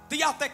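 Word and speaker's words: διαθήκη: hebreo se pronuncia verit y en griego se pronuncia días de qué cuando hablamos de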